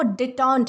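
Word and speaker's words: détente: दोस्तों इसका जो प्रोनाउंसिएशन है वो डिटॉन्ट है, ओके।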